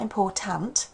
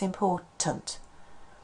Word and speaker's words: important: So we can look at any vowel and it'll sound as schwa, Here's an example for a, important. It's not important, it's important.